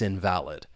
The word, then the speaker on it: invalid: It's invalid. Now, invalid. The stress is on that first syllable. That second syllable has that schwa sound.